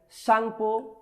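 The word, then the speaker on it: Tsangpo: तिब्बत में आखिर किस नदी को सांगपो के नाम से जाना जाता है? टी यहाँ पे साइलेंट है। सांगपो।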